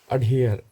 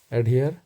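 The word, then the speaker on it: adhere: इसका प्रोनाउंसिएशन देख लेते हैं। अडहियर, एडहियर या अडेयर। अडेयर या एडहियर।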